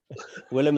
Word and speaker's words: Willem: Willem is fine. Okay. Think of the actor, Willem Dafoe. Willem.